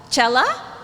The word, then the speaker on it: cella: c e ll a I'm guessing it's pronounced either sella or chela so anybody raise your hand and also shout because I can't see you if you're familiar with this row there we go hi how is it pronounced chela okay thanks I was